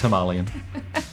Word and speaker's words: Himalayan: And it's also Himalayan. Oh, yeah, sorry, Ross. I don't even care how you say it. It's Himalayan.